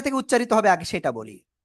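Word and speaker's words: ب: উচ্চারিত হবে আগে সেটা বলি। এই যে দুই ঠোঁট, দুই ঠোঁটের ভিতরের অংশ, ভিজা অংশ থেকে আমরা উচ্চারণ করব। বা এক আলিফ টান হবে, কয় আলিফ?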